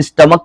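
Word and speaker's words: stomach: तो स्टमक में देखिए सी एच लगा हुआ है यहां पर। तो सीएच यहां पर है। इसका साउंड क्या निकल रहा है? क निकल रहा है।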